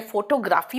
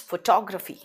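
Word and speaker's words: photography: फोटोग्राफी भी एक आर्ट है, फोटोग्राफी मत बोलना, इट्स फोटोग्राफी।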